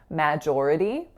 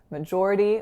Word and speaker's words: majority: is an A so I often hear something resembling majority but that's not how it's pronounced it's majority majority with a schwa the next word is